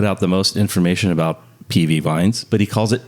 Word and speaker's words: PIWI: I'll explain what PIWI, or it's actually, I'm pronouncing it wrong, PV.